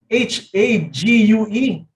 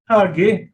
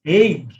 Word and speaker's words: Hague: Sabi ko, Kuya Kim, how do you pronounce H-A-G-U-E? Pinronounce ko kasi ng Hage. Sabi niya, mali yung pagkaka-pronounce mo. Ang sabi niya sa akin, pronounce it as Hague.